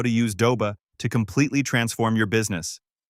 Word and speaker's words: Doba: And yes, for the record, it is officially pronounced Doba.